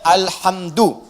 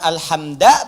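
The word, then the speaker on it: الحمدُ: Dibacaannya alhamdu, bukan alhamda pakai fathah atau alhamdi pakai kasrah. Ya, apa bacanya? Du, alhamdu pakai dhammah. Jadi kalau dibaca dalam salat, jangan baca menggunakan fathah alhamda atau kasrah alhamdi, tidak. Baca menggunakan dhammah, alhamdulillah.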